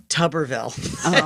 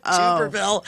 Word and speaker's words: Tuberville: It's pronounced Tuberville, not Tuberville.